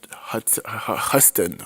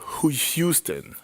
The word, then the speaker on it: Houston: It was directed by Huston. Robert Huston. Oh my god, I'm messing up the name. Robert Houston.